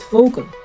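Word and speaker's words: Vogel: let's say it u v is pronounced f one example is fogal that's bird fogal means bird in English say it fogal w is pronounced V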